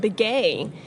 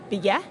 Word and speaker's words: Begay: Yep, and Begay means like his grandfather, and we've Americanized the pronunciation, but how they, as the Dene people, would say it is Begay.